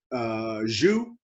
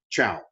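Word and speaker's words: Zhou: is the channel dynasty now it's z-h and to us it looks like jou jouw zu but in chinese pronunciation it's kind of given a CH sound Chao the chalice T begins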